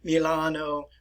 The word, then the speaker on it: Milano: And I will pronounce these in Italian for you. Venetia, which is in the north and the eastern parts of the Italian peninsula. Genova, Milano, Bologna, Palermo, which is